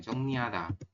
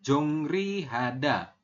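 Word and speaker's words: 정리하다: iya betul ya, Jong niada. Berarti ini tulisannya apa? Tulisannya Jongri Hada. Tapi nanti teman-teman membacanya menjadi Jong niada.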